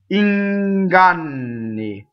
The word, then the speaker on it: inganni: The first N touches a G. Inganni.